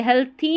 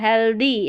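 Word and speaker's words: healthy: हेल्थी नहीं पढ़ना है। हेल्दी हेल्दी plant P एल ए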